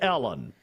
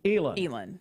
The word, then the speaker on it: Elon: Sharon Jackson says it's a long E and short I, so that would be Elon. You're wrong.